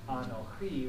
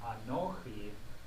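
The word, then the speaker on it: אָנֹכִי: Anochi with the accent at the end, but Anochi has the accent on the second syllable.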